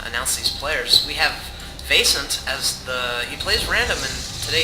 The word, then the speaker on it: Vaisnt: Is that how you pronounce it, Chris? Vaisnt, absolutely.